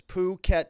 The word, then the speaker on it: Phuket: Phuket, Thailand. Otherwise, I would have pronounced it inappropriately.